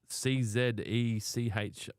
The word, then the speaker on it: Czech: Oh, it is Czech. It is Czech. That's how you pronounce it.